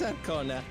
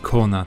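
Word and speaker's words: Koana: That's Arcona. Practical to a fault. It's just Kona, the A is silent in that case, okay.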